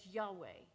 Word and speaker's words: Yahweh: The letters we pronounce as Yahweh.